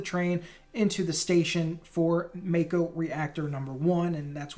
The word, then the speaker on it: Mako: down next to a broken Mako or Macko depending on how you want to pronounce it I'm gonna say Mako but down next to a